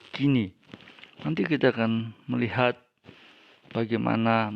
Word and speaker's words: Koinē: Tetapi cara membacanya bukan koine, melainkan kini.